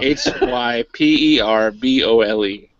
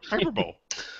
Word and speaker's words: hyperbole: because I was like don't risk it uh h y p e r b o l e hyperbole hyperbole there or hyperbowl it's hyperb yep so this week is going